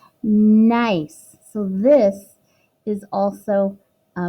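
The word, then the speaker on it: gneiss: is an example of nice that's how it's pronounced nice right here the G is silent nice so this is also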